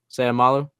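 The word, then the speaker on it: Seumalo: um Isaac I'm gonna totally butcher how you pronounce his name in fact I might even uh is Isaac somalu samalu sayamalo samalo there we go um Guard from the Eagles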